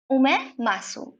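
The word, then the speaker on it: omasum: ओमे मासूम, इसका प्रोनाउंसिएशन में थोड़ा ध्यान रखिएगा, ओमे मासूम इसको बोलते हैं।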